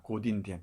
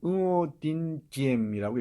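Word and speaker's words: Ngô Đình Diệm: 고딘디엠. 지금은 응오딘디엠이라고 읽어요. 요즘은 이 원음에 가깝게 응오딘디엠이라고 읽습니다.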